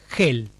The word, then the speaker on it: Hel: si no me equivoco, era Hel, con H-E-L, que es muy similar al Hell del infierno inglés, es decir, infierno en el idioma inglés, del que decíamos que antes tenía tanta influencia vikinga, se pronuncia casi igual.